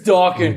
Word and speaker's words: Dakin: I had a guy in the Navy tell me I was saying my name wrong. Right. Forever. No, man. It's Dakin. It's You're Dakin, saying it dude. wrong. I think What the hell? I was born with this name. I know how to pronounce it.